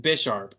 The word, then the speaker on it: Bisharp: It's pronounced Bisharp.